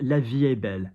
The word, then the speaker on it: La vie est belle: The next one is La vie est belle. La, sharper than we expect. L-A, V-I, between the eyes. V-A-E-S-T. We don't pronounce the T, do we? Because it's not followed by a vowel.